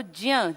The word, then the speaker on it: ज्ञ: आज हम बात करेंगे क से ज्य तक। इसको असलियत में प्रोनाउंस करना चाहिए ज्य की तरह, पर लोकल हम लोग जो है ज्ञ बोलते हैं।